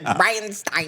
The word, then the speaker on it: Bridestein: Bridestein. Bride of Frankenstein.